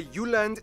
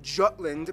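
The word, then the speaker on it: Jylland: Denmark is made of the you land not Jutland peninsula that connects to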